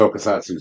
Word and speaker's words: Tokusatsu: It's part of the Tokusatsu series.